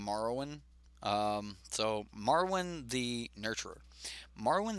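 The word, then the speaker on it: Marwyn: playable but I'm pretty I'm pronouncing this is Marwin because like the game Marwin so Marwin the nurturer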